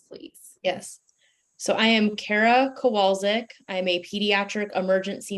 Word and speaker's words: Kara Kowalczyk: is your name and title and can you spell it for us please yes so i am kara kowalski i am a pediatric emergency medicine physician at